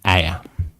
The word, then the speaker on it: ayah: Yeah, it's actually pronounced ayah.